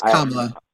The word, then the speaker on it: Kamala: about a person, maybe learn how to say their name consistently. Kamala. Yeah, you got it this time. Kamala. You did it the first time. It's Kamala. Yeah.